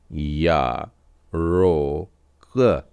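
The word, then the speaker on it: ירוק: में ओ की मात्रा और कुफ हो जाएगा या रो क या रोक ज सेवा या रोक र का उच्चारण भी थोड़ा अलग तरीके से होता है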